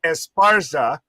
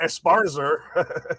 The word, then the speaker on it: Esparza: can't help it it Carla Esparza Esparza you said like Carla esparzer yeah so yes